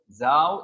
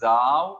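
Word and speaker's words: Sau: u in german uh when the s comes at the beginning most of the time it's pronounced za and au in german is ow so this is zao or sao in english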